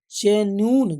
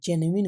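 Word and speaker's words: genuine: आगे देखेंगे बच्चों, नेक्स्ट वर्ड होता है बच्चों, देखो क्या लिखे हैं, जेन्यून, जेन्यून नहीं होता बच्चों, जेन्युइन होता है, क्या, जेन्युइन, यथार्थ, इट इज जेन्युइन या अर्थात, यानी कि एडजेक्टिव ही ग्रामर में।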